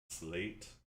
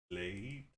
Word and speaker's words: sleight: It's spelled sleight of hand. Slate. Slate.